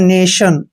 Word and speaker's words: nation: टी के बाद जब भी IO आए तो टी को आपने शे पढ़ना है। जैसे कुछ और एग्जाम्पल है, NATION, इसको पढ़ते हैं नेशन, और नेशन होता है राष्ट्र।